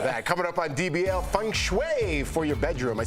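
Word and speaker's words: feng shui: the bottom of that coming up on dbl Fung Shui for your bedroom I said it right Fung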